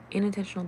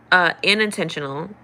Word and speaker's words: inattentional: Inattentional blindness and individual differences in cognitive. Unintentional. I do have a southern dialect, so I might be pronouncing it wrong, but it's spelled INATTE. So not unintentional, inattentional.